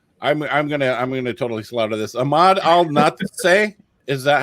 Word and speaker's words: Ahmad Al-Natsheh: Ahmad Al-Natsheh. Is that how you say it? Close enough. It's Ahmad Al-Natsheh.